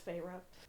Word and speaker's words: Feyre: i'm like is it fairy is it fairy is it feyre how do you say this name it's feyre i kind of groaned